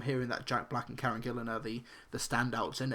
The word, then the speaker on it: Karen Gillan: So but but it's interesting seeing critics and and stuff online pronounce her name Karen Gillan instead of Karen Gillan.